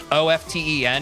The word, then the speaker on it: often: It's like the, did you guys know that you're not supposed to pronounce the T in often? O-F-T-E-N is supposed to be